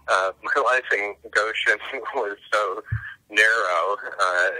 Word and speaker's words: Goshen: Probably because my life in, and it's pronounced Goshen, my life in Goshen was so narrow.